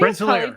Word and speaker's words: Rensselaer: Rensselaer, yeah.